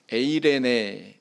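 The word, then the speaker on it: εἰρήνη: 오늘 성경 말씀에 화평이 하는 단어는 헬라어로 보면 에이레네 이렇게 이야기하고 또 히브리어로는 샬롬 이렇게 발음을 합니다 귀에 익숙하시죠 네 개혁 한글판 성경에서는이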